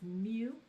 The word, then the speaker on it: mu: So it would be called mu, which is pronounced mu.